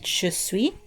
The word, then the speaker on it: je suis: or she is and even though there's an S at the end you don't really pronounce the consonant at the end so you kind of just say just sweet but if you are